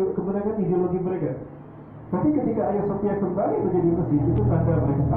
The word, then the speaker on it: Hagia Sophia: Orang Turki itu nggak bisa menyebut H, tapi menyebutnya A. Dan ini ada H-nya, berarti Hagia Sophia. Itu yang kita dengar kalau orang Turki membacanya.